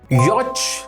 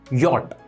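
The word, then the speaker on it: yacht: The next word is यॉच। नो, ये पढ़ा जाता है यॉट।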